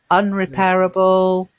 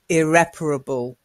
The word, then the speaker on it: irreparable: which is this one can anybody pronounce this one unrepairable no sorry now I know it's irreparable oh sorry pretty much